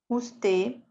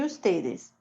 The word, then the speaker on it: usted: Eu, tu, ele, ella, usted, nosotros, ellos, ellas e ustedes. Usted, o D é mudo, quase que não se pronuncia, tá? Então, usted.